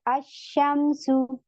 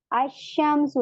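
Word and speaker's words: अश्शम्सु: ठीक है, ये देखें अब यहाँ पे अशमसु, अशमसु, यहाँ पे क्या हो रहा है, ये हमारा सन लेटर है, क्योंकि लाम को हमने साइलेंट कर दिया। अशमसु, लाम नहीं पढ़ रहे, अशमसु।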